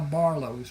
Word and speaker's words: Barlos: And that is how Barlos was born. The name was not a problem for the people in southern Louisiana because the French Ocadian influence. It is pronounced Barlo.